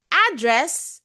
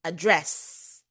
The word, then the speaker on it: address: record and record a record and record noun Record is the verb. Address address. Your address is where you live. To address something means to talk about an issue. Okay. So that's why it's very important for you to apply proper stress on words.